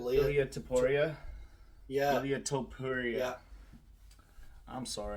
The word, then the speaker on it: Ilia Topuria: How do you pronounce that name? Ilia Topuria.